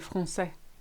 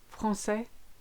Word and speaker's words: français: You may have noticed this letter in the word français. That little squiggle called the cedilla is made to give the C an S sound. So maçon, français, garçon.